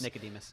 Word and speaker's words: Nicodemus: No, it's Nicodemus.